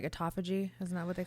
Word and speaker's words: autophagy: when you do keto well isn't that like autophagy isn't that what they call it yeah and actually it I say this a lot it's the correct pronunciation is autoag autoag okay I didn't know everybody says autophagy and